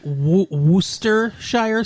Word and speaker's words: Worcestershire: sauce by the way for anybody that doesn't know how to say wooster shire sauce so like you no that's how you say it it's spelled w